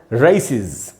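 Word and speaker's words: races: तो जहाँ जिसको भी हम ए समझते हैं वो एक्चुअली उसका उच्चारण ए नहीं होता, ए ही होता है, इसीलिए मैं इसको पढ़ रहा हूँ रेसिज, रेसिज। ये दोस्तों इसका बिल्कुल करेक्ट प्रोनंसिएशन है।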